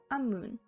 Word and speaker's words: 앞문: 앞 and 문 up moon is pronounced as amun.